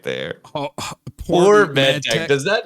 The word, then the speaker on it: Por: Poor MedTech. Does that not sound like it's just bad MedTech? Yeah. Is it poor like P-O-O-R? No, it's P-O-R, but I mean, how else would you pronounce that?